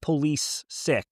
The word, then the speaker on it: Pulisic: There was during a Champions League, but they were like, here's how you pronounce people's names. And it was like Christian Pulisic. Yeah. And it was like police sick, giving pronunciation.